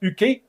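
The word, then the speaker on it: Jocke: With apologies to Joachim Yoki Broden, which is pronounced Uki.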